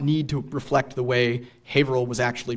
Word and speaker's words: Haverhill: the colonial period that our modern Massachusetts pronunciation usually matches almost exactly the colonial spelling. So I've said, I also work in Haverhill at the Buttonwoods Museum, and colonial maps will usually spell Haverhill H-A-V-E-R-I-L, without the hill.